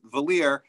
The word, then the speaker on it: Valle: In America, my last name is pronounced Valier, rhymes with queer.